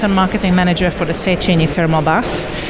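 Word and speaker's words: Széchenyi: I can't even do Budapest properly, so Szechenyi. Ooh. Is that Szechenyi. Is Go on, how do you say Szechenyi.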